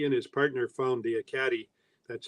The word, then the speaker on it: Ekati: And actually, he and his partner found the Ekati. That's how it's pronounced, the Ekati mine, in 1991.